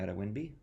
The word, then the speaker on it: Adewinbi: friends in the department his name is Hezekiah ATA winby I pronounce that correctly yeah that's good very good